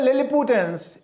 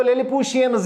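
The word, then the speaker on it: Lilliputians: Gulliver tried to catch some of द लिलिपुटियंस, इसको लिलिपुशियंस भी पढ़ते हैं, मतलब अगर आप इसकी सही प्रोनाउंसिएशन पढ़ना चाहेंगे लिलिपुटियंस भी पढ़ेंगे और लिलिपुशियंस भी पढ़ेंगे।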